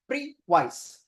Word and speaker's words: previse: advance now we pronounce is that is that pronounce it as preice okay now the origin of this word is